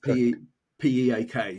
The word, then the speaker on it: Piiq: So it's piiq, Piiq, but pronounced P PEAK sort of thing for pronunciation.